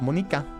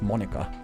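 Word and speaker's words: Monika: out the fact that her name isn't pronounced the Japanese way cuz if her name was Monica the Japanese way cuz you can write that with hiragana but it would be Monica and then it would be EA like squid but she straight up said to her that's not how my name is pronounced and that wouldn't work in the translation so yeah it's not Monica it's Monica which means yeah she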